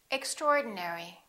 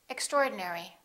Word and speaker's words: extraordinary: miserable miserable favorite favorite extraordinary don't say extra ordinary say extraordinary preference preference temperature temperature